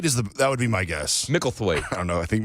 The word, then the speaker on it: Micklethwait: It's M-I-C. It's Mickle. I know it's Mickle. Yeah. And then it's T-H-W-A-I-T. Micklethwait? Thwaite that would be my guess. Micklethwait.